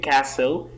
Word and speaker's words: castle: find that the word castle T is silent in here the T sign Antonia